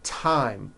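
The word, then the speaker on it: thyme: th they are pronounced as if they were spelled with a normal t like that and these words are thomas thompson Teresa Thailand Thames like the river Esther and time which is a spice okay now let's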